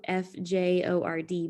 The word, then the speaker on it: fjord: fjord this is kind of a funny word it's spelled f-j-o-r-d but it's pronounced fjord and we'll talk real